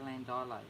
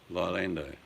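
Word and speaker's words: Llandeilo: I don't know how you used to say Landilo. You never said Landilo. You pronounced... It's a Welsh nightmare. Lilando, That's it. That's how you pronounced it. but it's Landilo.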